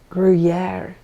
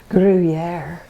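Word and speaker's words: Gruyère: I really had to look up how to pronounce this cheese that this recipe calls for, and they said Gruyere, Gruyere, Gruyere.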